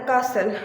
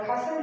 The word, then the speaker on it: castle: T is silent after S and in the castle too, and T is silent after S in the whistle too.